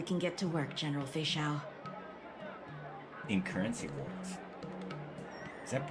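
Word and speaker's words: Feixiao: Every time I go to pronounce it, it's Fei Xiao. I always say Fellatio. Totally changes the meaning of that name.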